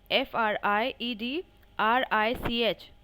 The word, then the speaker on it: Friedrich: They pronounce it differently. Fried, Fried, RICH.